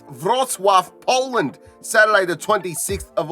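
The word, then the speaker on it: Wrocław: and it's been a while but I'm back Road claw or as it's pronounced vroswaff Poland Saturday the 26th of August will be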